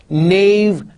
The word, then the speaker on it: knave: Nash see I'm pronouncing knave no not Nash K is there in knave but it's not pronounced G is there in